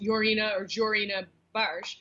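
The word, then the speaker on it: Jorina Baars: to, and I always say it wrong, it's Jorina Barsh. Correct. Barsh, yeah. Barsh. Hey, However A for effort, Kedzie. Sorry, I'm mispronouncing it.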